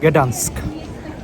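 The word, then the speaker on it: Gdańsk: গ্যাডান্স্ক জার্মানিতে আসলে এটাকে উচ্চারণ করে ডান্সিক, উচ্চারণ করে না, বলে আর কি ডান্সিক। আর যেটা হচ্ছে ইংলিশে গ্যাডান্স্ক।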